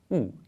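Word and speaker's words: houx: It has 4 letters, but there's just one sound here. It's just ou. It's the word that means holly in French. Puisqu'il y a quelque temps, en me promenant dans la forêt, je suis tombée sur du ou. This word illustrates that the spelling doesn't always represent the sound.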